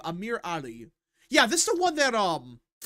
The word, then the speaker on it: Amir Ali: That's how you say his name, Amir Ali.